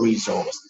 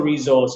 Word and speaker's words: resource: So lexical resource. As for resource, you can say resource or resource. The two pronunciations are accepted.